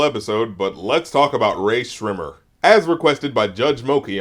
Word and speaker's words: Rae Sremmurd: makes no sense because it's supposed to be said like Rae Sremmurd, even though there's no H between the S and the R. So you have to remember there's a silent H between the S and the R, and if you don't pronounce the H, then you will never get our name correct.